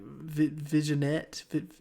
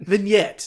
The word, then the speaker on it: vignette: to pronounce it but like visionette vignette vignette that's how you pronounce it yeah very very